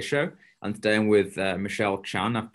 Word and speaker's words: Michelle Chan: And today I'm with Michelle Chan. I've pronounced that correctly, surely. Yeah, Michelle Chan, yes.